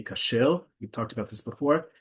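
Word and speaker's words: כשר: the tag on it that indicates that it's kosher. Um, in Hebrew, by the way, we say kashel.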